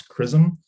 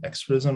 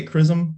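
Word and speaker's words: XRISM: and spectroscopy mission uh which we do pronounce chrism it's one of the most common questions i get is how do you say that word is it extraism or scrism we say chrism um so if you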